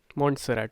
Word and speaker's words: Montserrat: Montserrat, sorry, I was pronouncing it wrong.